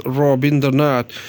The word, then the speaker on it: Rabindranath: At last, there's a famous quotation by Rabindranath Tagore, who was a Bengali pronounced as Rabindranath, whose birth anniversary is